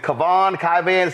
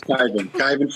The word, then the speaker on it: Kyvan: First off, is it Kavan? Pronounce it, please. It's Kyvan Foods.